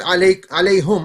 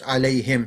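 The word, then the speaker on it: عليهم: If you said alayhum, I know what you're saying, but you're saying it wrong. It's alayhim, same meaning.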